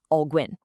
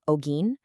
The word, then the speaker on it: Alguin: It was that the AI voice could not say my last name, Alguin. It kept spitting out Alguin. It sounds ridiculous, I know, but as soon as we made that one tiny fix, spelling it out phonetically, Ogin, the whole thing just started working perfectly.